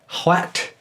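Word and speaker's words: Hwæt: at the beginning what should literally be sounded like a wind blowing until it closes in that W sound that the word we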